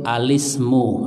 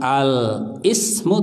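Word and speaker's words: الاسم: kita mengucapkan alis gitu alismu apa tapi bukan alis kamu ya alismu itu ya kalau bacanya alis kamu ya salah alismu Kenapa karena masanya angsa washol sehingga Bukan al-ismu tapi alismu alismu coba latihan misal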